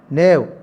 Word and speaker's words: knave: For example, it is better to be fool than knave. K-N-A-V-E, knave. K is silent.